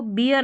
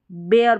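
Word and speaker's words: bear: अभी इससे पहले देखा ईयर, यहाँ पर एयर करके, तो इसको बियर नहीं बेयर पढ़ेंगे, बेयर। अगर सही प्रोनाउंसिएशन देखेंगे तो बेयर इसका सही उच्चारण है, बियर नहीं है, बेयर।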